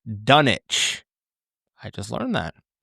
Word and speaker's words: Dunwich: Every person in the movie pronounces the town's name as Dunwitch. In fact, it is pronounced Dunich. I just learned that with a silent W.